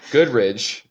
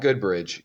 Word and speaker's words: Goodridge: And then we have Robin Goodridge. Goodridge. Not Good Bridge. Goodridge on drums.